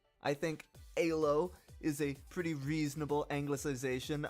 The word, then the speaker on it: Elo: way that sounds so my compromise was to try to stick as close to the original hungarian pronunciation as my american tongue could muster i think halo is a pretty reasonable